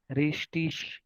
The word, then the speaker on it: Richtig: Now here G is there, but now how I am pronouncing it is Richtig. Sh. Last sh hai. Okay, Richtig. Richtig. That is also correct. Richtig is also correct. So G is also correct pronunciation and sh is also correct pronunciation.